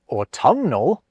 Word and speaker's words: autumnal: So in the case of the word autumn, we drop that ungainly N. Yet with autumnal, both letters get their time to shine.